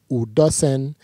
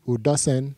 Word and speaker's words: Udosen: That's how it's pronounced here in the Western world, but it's actually properly pronounced Udosen. There's like a song to it, Udosen.